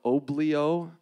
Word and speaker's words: Oblio: it's called autophobia and we are called oblo which sounds it's spelled like it sounds so it's easy to